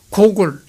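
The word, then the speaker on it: Гоголь: 그는 스스로 야노우스키를 버리며 고골 우크라이나어로서는 호울이라고 합니다. 고고를 우크라이나어로서는 호울이라고 이제 발음한다는 것이죠.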